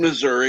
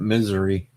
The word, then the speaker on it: Missouri: gun shops are open some of us uh pronounce it misery well I do pronounce it the correct way however you are also correct that's right Missouri it's misery